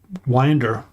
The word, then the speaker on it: Winder: And I have a dentist whose name is Winder, but in Georgia, the town that has that name, they pronounce Winder.